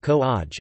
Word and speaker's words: Kovai: Coimbatore, also known as Kovai, pronounced Ko-aj, is a major city in the Indian state of Tamil Nadu.